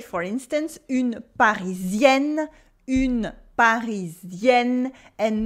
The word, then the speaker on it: Parisienne: In French, words are stressed on their last syllable. So we say, for instance, une Parisienne, and not une Parisienne.